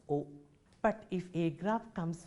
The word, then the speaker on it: au: form a new article a u pronounced as o but if a graph